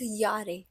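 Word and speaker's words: Jahr: means years old now this j a h r no one is going to pronounce it as jar it's j has a y sound in it so it's Yar alt alt means old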